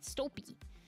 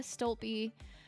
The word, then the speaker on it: Stolpe: I thought it was pronounced Stolpe, but Stolpe. Andrea Stolpe brought this retreat together.